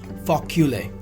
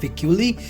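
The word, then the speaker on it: fécule: The pronunciation of this in French is fa, F-A, facule, right? This is facule. It's not ficuli, it's facule.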